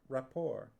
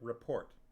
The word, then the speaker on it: report: flagstones cracked with a sharp rapport or is it with a sharp report it's spelt r-e-p-o-r-t it's probably just report there was absolute silence